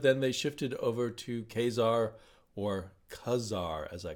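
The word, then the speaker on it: Ka-Zar: I still have to think Khazar and then translate to Khazar, which I learned was the way Stan Lee pronounced it, and I guess everyone else does.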